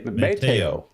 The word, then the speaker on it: Mateo: Mateo. All right. No stress on any. Okay. Gotcha. So Mateo. Is that correct then? Mateo? No accent. Or no stress on any syllable.